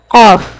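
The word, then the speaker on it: قاف: And when a deepest part of the tongue touches to the soft palate, what we can say? Qaf.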